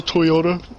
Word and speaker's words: Toyota: Also, Toyota rhymes with lime soda.